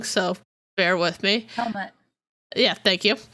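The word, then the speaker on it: Helmut: 13th Baron of Zemo, Heimlich, which I'm probably saying wrong, so bear with me. Helmet. Yeah, thank you. Yeah, it's pronounced helmet.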